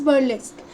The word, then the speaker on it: burlesque: of short type questions by lex what is burlesque violets is balik's the word pronounced b-u-r-l-e-s-q-u-e burlesque is a literary dramatic or